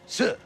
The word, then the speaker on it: 四: On account it's pronounced si, which sounds like the Chinese word for death, si.